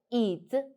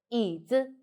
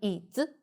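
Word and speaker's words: 椅子: Pay attention, only third tone, the neutral tone is higher, so it's called 椅子, 椅子, not 椅子, 椅子, 椅子.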